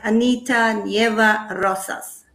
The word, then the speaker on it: Anita Nieva Rosas: you very much and have i pronounced your name right anita nieva rosas yeah that's perfect i've tried that from